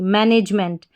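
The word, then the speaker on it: management: इसमें हमारा कोड है एम इ एन टी। एम इ एन टी को पढ़ते हैं। मेंट एम इ एन टी को मेंट।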